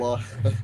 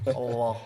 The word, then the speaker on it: Allah: Allah. Allah. Allah. It sounds Saifullah. powerful. Allah. It sounds Saifullah. powerful. Doesn't it sound powerful, Kurt? Dude, it sounds sick. Like Allah.